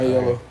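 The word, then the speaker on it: Ielo: mang and then Bruno's I right yeah it's pronounced just like he spelled i e l o oh yellow so once you see the last you see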